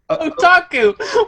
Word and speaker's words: Otaku: Anywho, the other news is that the new Okchaku. How do we pronounce it? Otaku!